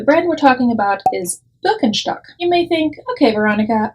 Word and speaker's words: Birkenstock: an americanized version of the actual german name birkenstock is how we would pronounce it in germany now birkenstock has been